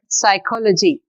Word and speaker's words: psychology: is only talk here in this next word psychology we are not pronouncing p in thumb we are